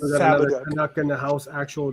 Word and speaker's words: Fabok: We pronounce it Fabok. Fabok.